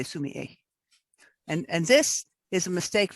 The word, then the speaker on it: sumi-e: a week off so sue me a that's how they say the s-u-m a okay the e at the end is pronounced a assuming is just the